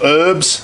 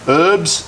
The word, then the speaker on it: herbs: some mixed herbs or herbs that's the yank say herbs they don't pronounce the h a few mixed herbs